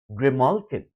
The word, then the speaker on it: Graymalkin: And if we pronounce this in the way it would be pronounced on the Shakespearean stage, it would be pronounced as Grimalkin, coming from the root word grim.